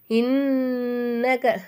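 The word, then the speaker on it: إِنَّكَ: இன்னக நூனுக்கு மேலே சத்து இருக்குனால இது என்ன செய்யணும், நல்லா அழுத்தி உச்சரிக்கணும்.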